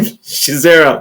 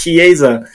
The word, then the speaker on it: Chiesa: Chiesa. I always want to call him Shizera, but I know that's not his name. It's Chiesa.